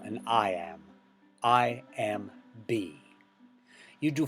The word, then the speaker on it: iamb: So 5 iambs, iamb, pentameter, right? The adjective form of iamb is iambic. The B is silent in iamb, but you do pronounce it when it's adjective.